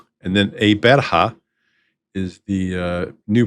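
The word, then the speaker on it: Gqeberha: newer South African name, Eberha. Now, listen to that pronunciation. It starts off with a click, and then Eberha is the new pronunciation,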